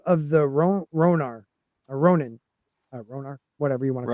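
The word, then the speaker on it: Rhoyne: Yeah, it's spelled Rh O Y N E. So I don't know why I say ronar but it the the ronar of the people the ron mother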